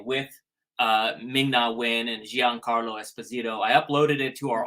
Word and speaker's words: Esposito: it's Giancarlo Esposito. Oh, Esposito. That was him. He was there. Reminds me of the song Despacito. Remember that song? Yes. Yeah. But it's Esposito.